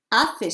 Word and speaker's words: hace: Hace sol, silent H. Está nublado. Hace frío, again, silent H. Hace calor, silent H again, okay?